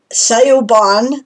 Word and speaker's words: Siobhan: Siobhan the writer, her channel title is Sayuban the writer _SHIVHN, right? Because that's the pronunciation.